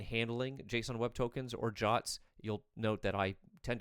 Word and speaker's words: JWT: otherwise known as JWTs, otherwise known as Jots. Um, which I've always found a bit odd, but that is the intended or at least the accepted pronunciation.